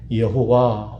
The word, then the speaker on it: 여호와: 하나님이 약속하신 그 말씀에 관해서는 반드시 그 약속을 실현하신다라고 하는 것을 보증하시기 위해서 하나님 자기 백성들에게 특별하게 알려주신 이름이 여호와 혹은 이 말을 다른 말로는 야훼라고도 불러요.